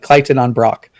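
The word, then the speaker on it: Claughton-on-Brock: This is Clayton on Brock. Clayton? Clayton. C-L-Y. C-L-Y is the pronunciation presented here.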